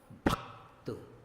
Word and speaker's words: भक्त: भक्त। भ को आपने सीधे सीधे नहीं बोला, भक्त क से टकराया।